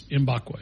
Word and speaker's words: Mbakwe: It's Mbakwe. It's spelled just identical the way it sounds.